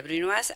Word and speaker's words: brunoise: Y cortes, no sé, brunoise es un corte que casi nadie dice, siendo hispanoparlante, dicen brunoise o algo así. En francés sería brunoise, algunos sí lo dicen en